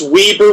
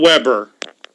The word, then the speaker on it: Weber: against Weber State yes that's Weber with 1B not Weber yeah I've heard it pronounced both ways uh Xavier really clamped